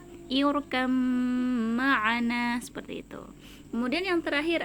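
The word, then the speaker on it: اركب معنا: Tulisannya seperti ini, irkab ma'ana, seperti itu ya. Tapi karena huruf ba dengan mim ini sama-sama makhraj asyafatan, sama-sama makhraj yang keluar dari kedua bibir, maka cara membacanya irkam ma'ana, seperti itu.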